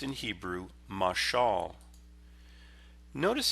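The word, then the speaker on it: מָשָׁל: It's a masculine noun that is pronounced in Hebrew, mashal.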